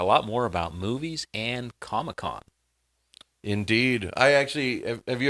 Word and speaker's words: Comic-Con: So, it's the big thing is San Diego ComicCon, but they pronounce it ComicCon like it's one word.